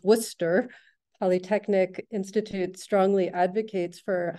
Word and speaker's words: Worcester: My institution, WPI, which we pronounce Worcester, Polytechnic Institute, strongly advocates for higher education professionals,